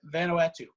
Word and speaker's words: Vanuatu: polynesia in south pacific how do you pronounce mana no vanna atul venatica n-u-a-t-u something along those lines yeah vanuatu which is out near